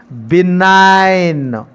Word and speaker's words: benign: The silent consonant is G. G is a silent letter in this word. What is the pronunciation? Benign.